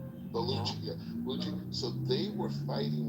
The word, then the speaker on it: Baluchi: You have this group that I think they were called like the Balki Balkuchi Baluchi.